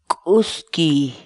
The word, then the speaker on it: k'uskiy: de videos en la que te enseñamos a pronunciar algunas palabras en quechua. Así que nuestra palabra del día por hoy es Uski, uski, uski, la palabra quechua.